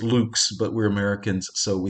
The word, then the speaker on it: lux: latin word for light i suppose i should pronounce it luke's but we're americans so